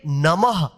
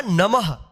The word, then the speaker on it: नमः: visharg है इसको पढ़ेंगे नमः क्या होगा नमः ध्यान रखिएगा जिस अक्षर के बाद अगर यह दो बिंदी रहे तो उसे अक्षर के बाद जो है ना ह का उच्चारण करिएगा ठीक है नमः अन और